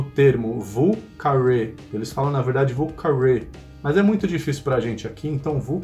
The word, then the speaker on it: Vieux Carré: mais famoso de New Orleans, ele tem essa pronúncia própria, Vieux Carré.